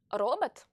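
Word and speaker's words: робот: So as you can see, the stressed O's in these two words are pronounced O, whereas the other ones, which are not stressed and follow the stressed vowel, are pronounced like short A's.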